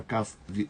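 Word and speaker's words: כף: Um pontinho dentro da letra Kaf, você pronuncia ela forte. Kaf. E sem pontinho é Raf.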